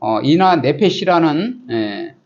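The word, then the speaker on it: עינוי נפש: 이 금식에 대한 것도 이제 우리가 잘 알아야 되는데 원래 유대민족의 금식은 속죄일 7월 10일 아침부터 저녁까지 실시하였고 이것은 히브리어로 이나 네페시라는 라고 발음하는데 율법으로 엄히 명하여서 정한 거예요.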